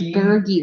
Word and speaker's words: Gurgi: His name is Gurgi with a hard G.